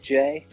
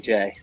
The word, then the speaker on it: Jxye: Is it Jxye? Yeah, so it's just pronounced J. So the X is just, I've replaced the A with an X for some reason, because I think I'm cool.